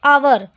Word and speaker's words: hour: जैसे यहाँ क्या लिखा है, HOUR, इसको हम लोग क्या पढ़ते हैं, आवर, तो इसका साउंड पढ़ने में क्या आता है, अ।